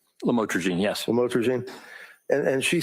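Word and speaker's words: lamotrigine: about the u the lamel, otherwise known as lamatroine. Did I pronounce that right? Lamotraine.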